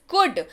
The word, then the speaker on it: could: COULD, कुड। इसको LD आपको यहाँ पे स्पेलिंग में दिख रहा होगा, COULD, लेकिन आप इसको जब पढ़ें तब आप L को हटा दीजिए, आप पढ़िए कुड। जी हाँ, इसका उच्चारण जो है वो कुड होता है।